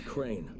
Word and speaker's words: Crane: guessing my name is crane crane crane rhymes with train and brain and sign and grain and rain and plane and the other kind of plane and can i come